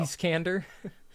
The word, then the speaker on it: Iskander: Iskander. Iskander. I keep wanting to say Ishkal, and I'm like, that's not no.